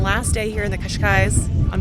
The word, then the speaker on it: Cascais: It is our third and last day here in the Cascais.